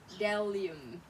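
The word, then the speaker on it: bdellium: So this one is just forget about the B. Say delium.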